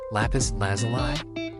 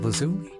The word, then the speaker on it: lapis lazuli: of real life uh lapis lazuli feels like it's wrong lapis lazuli I always pronounce it lazumi but then I went